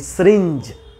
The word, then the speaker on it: syringe: क्योंकि इसकी जो राइट प्रोनाउंसिएशन होती है that is सिरिंज, SYRINGE, that is सिरिंज।